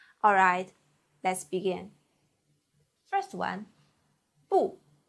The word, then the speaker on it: 不: First one, 不波 u with the fourth tongue, 物波 u 不波 u 不不不 This means no.